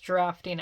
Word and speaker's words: draughting: I know they said it's pronounced drafting.